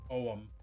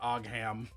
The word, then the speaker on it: Ogham: Also, yes, to anyone questioning, it is pronounced Ogham, not Ogham.